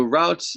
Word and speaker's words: route: Here's route one and here's route two. So routes the different route is it can be a route. Some like I say some people say route some people say route.